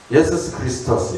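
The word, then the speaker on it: Ἰησοῦς Χριστός: 예수스 크리스토스 이렇게 되는가 제가 알고 있기는 그 발음이 그렇게 되는데 그 당시에는 사실은 이 예수라는 이름이 상당히 흔한 이름이었대요.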